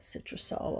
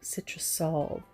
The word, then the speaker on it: Citrusolve: When I was finished transferring the whole image, here's that Citrusol. I wanted you to see that that's what I'm using. And Citrusolve, S-O-L-V, I'm saying it wrong, Citrusolve.